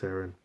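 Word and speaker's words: Seirin: I think it's pronounced Saren.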